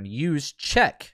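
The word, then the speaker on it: Juszczyk: right or midwest people use check um so it's a soft j yogin i believe is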